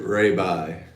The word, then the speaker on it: Raibi: probably not that popular it's not rabbi i don't call it rabbi what is it how do you spell it rabibi ryby driving all right yeah like rabie and then the eye with the top with two points on the eyes so that's weird ray bye right ray bye right b